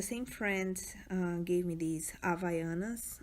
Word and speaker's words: Havaianas: The same friend gave me these Havaianas. I know you might pronounce it differently, but this is how we pronounce it.